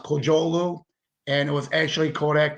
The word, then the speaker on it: Kocaoglu: Last name's pronounced Kocaoglu, and it was actually Kodak, not Xerox.